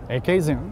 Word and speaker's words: Acadian: And it's called what I would pronounce Acadian, but you say? Acadian.